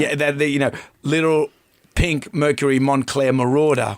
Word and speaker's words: Marauder: Yeah, little pink Mercury Montclair Marauder. Rhymes with daughter.